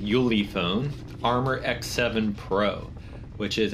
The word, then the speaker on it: Ulefone: decided to try this i think it's pronounced yuley phone armor x7 pro which